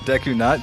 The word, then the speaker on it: Deku Nut: I pronounce it Deku Nut, but you can go for Canute. Like I know that our European fans, they want to pronounce it like that, so like, I'm good for culture, man.